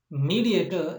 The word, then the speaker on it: mediator: The suffix is war, and where the stress is in the example word, the stress is on the first syllable.